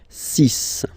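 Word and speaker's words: six: Then be careful here, because even if it's ending with this X, well, you'll have to pronounce it like S, okay? So you get the 6 pronunciation. 6, 6.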